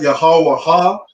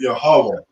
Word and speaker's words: Yahweh: So it's not Yahweh Ha. The Wa and the Ha connect, so we pronounce it Yahweh.